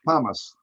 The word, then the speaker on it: pumice: It's pronounced pumice.